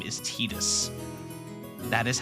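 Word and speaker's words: Tidus: Yes, his name is pronounced Tetus. That is the official pronunciation of his name is Tetus.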